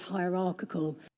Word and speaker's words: hierarchical: The vowel in the middle, the I in the middle gets dropped and you may hear something like h high hierarchical hierarchical hierarchical and need to be less hierarchical rather than higher higher.